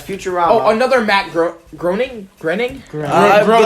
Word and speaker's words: Groening: ah another macro groaning grinning bro I actually believe it's pronounced graining graining thanks bro neg